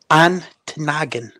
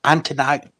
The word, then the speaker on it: Ontonagon: Then we have another city, Ontonagon.